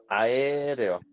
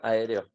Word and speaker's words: aéreo: diptongo en la palabra aéreo. Tenemos AE y tenemos EO. Entonces aquí tenemos un ejemplo de dos diptongos en la misma palabra. AE sería la primera sílaba y REO sería la segunda sílaba.